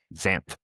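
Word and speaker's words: Xanth: That is spelled X A N T H. Zamp.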